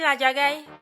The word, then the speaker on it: Ladjagaï: Ah, c'est comme ça qu'on prononce son nom. Oui, la Jagaï.